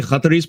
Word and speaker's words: Qatar: If you actually go to Qatar, the way Qataris pronounce it is Qatar. So that's how you pronounce it in Qatar. And so I can't do the Qatar, so I do Qatar.